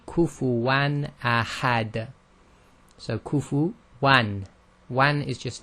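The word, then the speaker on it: كُفُوًا أَحَدٌ: So it's pronounced just normally, which we call clear. So this is simply kufuwan ahad.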